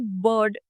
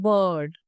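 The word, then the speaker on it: bird: Word देखा बर्ड तो British English के हिसाब से हम इसे बर्ड जो है बोलेंगे। आर को प्रोनाउंस नहीं करेंगे। लेकिन यही अगर हम इंडियन इंग्लिश की बात करें तो हम प्रॉपर बोलते हैं बर्ड।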